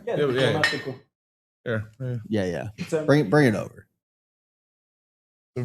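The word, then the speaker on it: Diplomático: I pronounced it right, right? Yeah, Diplomatico.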